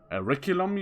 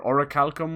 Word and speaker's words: Orichalcum: In Assassin's Creed Odyssey back in 2018, I think it was Auriculum you had to, or Orichalcum, whichever way you want to pronounce it.